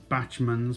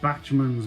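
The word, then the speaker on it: Bachmann: go on about these batsman's Backman's whatever you want to go all them it's actually ever started batch moons but we're we're worried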